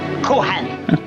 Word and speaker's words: Cohan: Over here, we pronounce it Cohan.